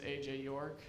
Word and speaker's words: AJ York: Roy on stage because my real name is AJ York and it does rhyme with JJ dork yeah um it's really